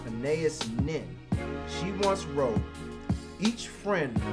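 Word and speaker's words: Anaïs Nin: So, late diarist, novelist, essayist, and short story and erotica writer, I think her name is pronounced Anais Nin.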